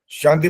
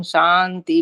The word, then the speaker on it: शांति: ओम शांति शांति शांति एक तो स वाला उच्चारण ठीक करो वो ठीक नहीं आता शांति बन जाता है ना श होता है ना सा होता है बीच का कुछ आता है वो ठीक नहीं है और जहां पर शुरू